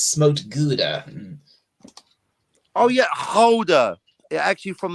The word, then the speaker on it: Gouda: And actually, it's pronounced Gouda.